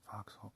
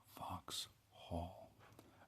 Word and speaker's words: Vauxhall: Vauxhall. No, I'm saying it wrong. Vauxhall.